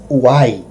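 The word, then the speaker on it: οὐαί: horror para os fortes uai é interessante que a pronúncia da palavra ai lá no Grego é uai isso nos faz lembrar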